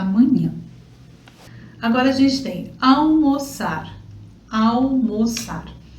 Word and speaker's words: almoçar: Outra coisa também, só pra gente comentar aqui, questão de pronúncia, esse L não é um L, tá? É AU, é quase um U.